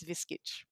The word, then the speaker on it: Viskic: Uh, but the pronunciation has always stayed as Viskic. Mm. Viskic.